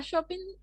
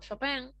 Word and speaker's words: Chopin: identidad de una región a shopping o chopin yo les decía hoy que había de distintas formas de pronunciar su nombre bueno nosotros la pronuncia vamos más a la inglesa y ahora me estoy recién me estoy acostumbrando a esta nueva hipótesis de que en realidad es la pronuncia van con con el sonido a la francesa bueno era considerada cronista